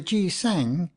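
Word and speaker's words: 기생: flower has evil associations the G sang as the Koreans pronounce the name of the gisha as the Japanese call all the dancing girls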